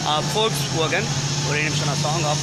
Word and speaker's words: Volkswagen: This is forks வோகன். ஆஸ் இது last time நான் சொன்ன மாதிரி என்ன, இட்ஸ் ப்ரொனவுன்ஸ்ட் ஆஸ் ஃபோக்ஸ் வோகன்.